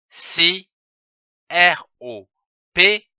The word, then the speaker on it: sirop: S-I, si, R-O-P, ro. Ça se prononce sirop.